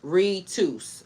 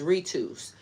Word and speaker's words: ritus: This comes from the Latin word ritus, pronounced ritus. All right, so it's ritus.